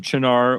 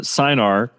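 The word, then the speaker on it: Cynar: And if I can find some Chinar, or as those of us in Alabama pronounce it, Sinar, again, I don't know that this doesn't become my lead variation on the Manhattan.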